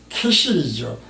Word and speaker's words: 그실: 그실의 뜻은 우리말 성경에서 그실이라고 발음을 표기를 했는데요. 이것은 캐실이죠.